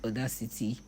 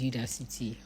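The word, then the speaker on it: Udacity: I know that that's not the way they pronounce it. It's me. It's me that likes calling it Odac City, but it's Udac City.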